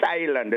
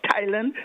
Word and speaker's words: Thailand: just get it clear the th in the English language is considered to be a diagraph a diagraph being a combination of consonants but they create one sound there are many CH CK pH etc etc but let's look at the th1 this morning especially the one where the t is capital the H is silent that's why we